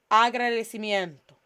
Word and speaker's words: agradecimiento: El agradecimiento. El agradecimiento. Not miento. Miento. Miento. El agradecimiento means appreciation.